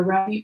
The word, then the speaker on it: Rumi: Okay, and this is from the Remy Oracle deck. And so Remy, or Rumi, depending on how you pronounce it, was a 13th century Persian poet.